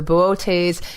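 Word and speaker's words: Boötes: Plowman or cow herder I'll spell it for you it's Bo OTE s with an M lot over the second ohso bootays is from greek meaning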